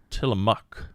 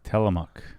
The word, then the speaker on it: Tillamook: the correct pronunciation uh-huh it is tillamook telemuck telemuck not mook no it's just spelled mook how how could it